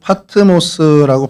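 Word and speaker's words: Πάτμος: 어 그리스어루 파트모스라고 발음을 하고요.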